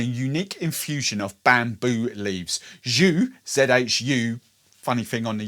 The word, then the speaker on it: Zhú: Pronounced, I'm reliably told by the guys that it's spelled Zhu, or pronounced Zhu. So think posh French gravy, Zhu.